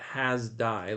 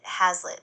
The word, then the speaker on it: Hazlitt: No, no, no, not has die. Let me spell it for you. Hazlitt. Got it. Hazlitt.